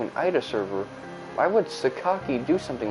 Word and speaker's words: Sakaki: Why would Sukaki do something like that? I'm saying it Sukaki cuz that's how they say it.